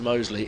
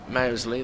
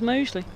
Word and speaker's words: Mousley: can't win but but Dan absolutely wants it pronounces Mosley even though the members of his own team don't necessarily do that this is left alone outside of stuff we have those who call him mousley those who call him mousley and he prefers Mosley he does give the